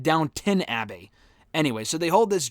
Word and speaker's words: Downton Abbey: I always thought for the longest time until someone I know started watching the show, it was Downtown Abbey. It's not. It's spelled Downton Abbey.